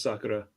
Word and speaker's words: Sakura: Um you because you call it Sakura. I call it Sakura. Maybe I'm Maybe I'm reading it wrong. I think it's just the pronunciation. The the proper pronunciation in Japanese is Sakura.